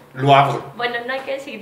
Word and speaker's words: Le Havre: Yo digo que es francés y es Le Havre. ¿Y si dice Le Havre, qué pasa? Que es, dice Rudy que es holandés. ¿Qué? Y es Le Havre. Ahí está, Le Havre. ¿Por qué? Porque ella sabe francés. Ah, no, también es Le Havre. Y le preguntamos a un francés, le dijimos, a ver, ¿cómo se dice esto? Le Havre.